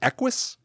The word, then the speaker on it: Equus: Am I pronouncing this right? Equus?